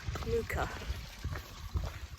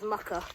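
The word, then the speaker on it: Muker: So quite close to the small village of Muka. If you look at that on a map, it reads as Mucka, but that's not how you pronounce it.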